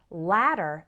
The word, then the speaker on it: latter: and when you're speaking there's the pronunciation difference that later has the long a as a name or hate later and latter has the short a as an apple and cat latter repeat after me